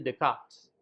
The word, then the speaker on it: Descartes: Seperti misalnya Francis Bacon, kemudian Descartes, yang tulisannya Descartes, dibacanya Descartes.